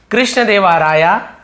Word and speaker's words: कृष्णदेव राय: पढ़ेंगे स्टोरी में लेकिन इंग्लिश में आपको पढ़ना हो तो कृष्ण देवा राया ऐसे पढ़ेंगे बट इसका